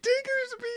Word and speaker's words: Diggersby: His name is Diggersby, dude.